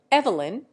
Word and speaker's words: Evelyn: and American usages differ Evelyn in England is given two syllables instead of three and the first is made to rhyme with leave irene is given two